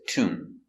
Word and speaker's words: tomb: Remember, no B, no tomb, just tomb.